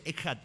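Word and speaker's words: אחד: la nota de abajo dice echat no ponerle una K Porque la idea es que se pronunci eat y Por qué es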